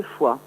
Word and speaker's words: Foix: Voilà, donc en fait j'ai fait un jeu de mots avec la ville de Foix aussi. Donc oui. La foi des artistes s'écrit F-O-I-X.